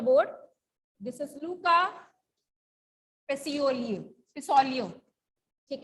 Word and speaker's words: Pacioli: Paciolio. ठीक है. Pacioli. क्या बोलेंगे, कैसे प्रोनाउंस करेंगे?